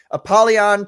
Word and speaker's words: Apollyon: Apollyon 20XX.